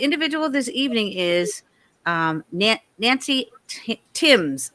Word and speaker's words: Thames: So the individual this evening is Nancy Timms. It's spelled THAMES like Thames, but it's actually Tim.